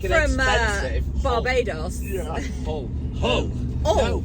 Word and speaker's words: Hull: Hull. Hull. Oh, No, it was silent H in Hull, But I Rich.